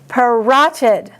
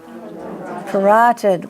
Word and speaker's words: parotid: Parotid. Parotid gland. Rot is the accent.